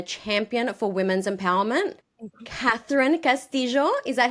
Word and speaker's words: Castillo: industry and a champion for women's empowerment Catherine Castillo is that how you pronounced your surname yeah still me but yes